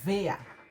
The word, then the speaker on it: wer: Em alemão pronuncia-se V. E a pergunta é wer, para pessoas, e was para coisas.